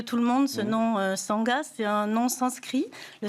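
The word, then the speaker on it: Shanga: Ça s'écrit S H A N G A, ça se prononce Sanga.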